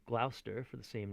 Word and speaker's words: Gloucester: and richard is called gloucester for the same name i know it looks like glauchester but it's gloucester you know they tend